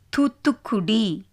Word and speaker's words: தூத்துக்குடி: து, இத்து, இக்கு, டி, தூத்துக்குடி. ரெண்டு தா, ரெண்டு கா, ஒரு ஹாஃப் கா, ஒரு ஃபுல் கா, ஒரு ஹாஃப் தா, ஒரு ஃபுல் தா. ஸோ அப்படி வரப்போ அதுக்கு ஸ்ட்ரெஸ் கொடுத்து நம்ம ப்ரொனவுன்ஸ் பண்ண போகிறோம். தூத்துக்குடி, தூத்துக்குடி.